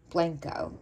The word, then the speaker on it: Blanco: Blanco.